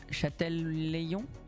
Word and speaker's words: Châtelaillon: Non, Châtelaillon. Châtelaillon. Ouais, Châtelaillon-Plage, je pense que c'est comme ça qu'on prononce.